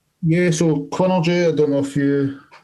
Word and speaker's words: Quinnergy: So Quinnergy, I don't know if you can see it.